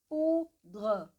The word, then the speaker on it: poudre: Mais uma vez, ou mais U igual a U. Poudre, poudre, poudre.